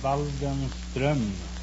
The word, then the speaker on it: Waldenström: In Sweden, you pronounce the name Waldenström.